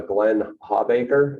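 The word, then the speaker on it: Glenn O. Hawbaker: if you didn't hear the company's uh uh glenn hawbacher that's how you pronounce it is anybody aware of that you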